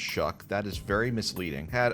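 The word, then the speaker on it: Shough: Tyler Shuck, in just his second career start, again, I'm going to talk about how his last name looks like show, but it's pronounced Shuck.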